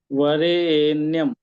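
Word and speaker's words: वरेण्यम्: ए वरे एन्यम ऐसे जी जी र में जो ए स्वर वो ऊंचा जाएगा थोड़ा जी जी वरे्यम उसका ऐसा उच्चारण करेंगे वरे्यम वरे्यम वरेम ऐसे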